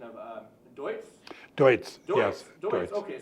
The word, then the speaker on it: Deutz: So you might have to help me with the pronunciation of Deutz?